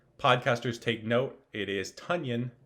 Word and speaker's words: Tonyan: last name is tanyan which rhymes with funyun this was all over twitter yesterday i saw people saying podcasters take note it is tonyan not tanyan so listeners take note